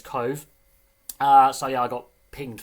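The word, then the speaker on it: Cobh: Obviously it's spelt Cobb, but in Gaelic pronunciation it is Cove.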